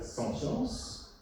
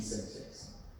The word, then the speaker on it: sentience: Très important, ce qu'on appelle en anglais la sentience, sentience, S-E-N-T-I-E-N-C-E, sentience, ou sentience, qui est en train de se franciser, je prononce même à la française, sentience, et puis la sentience,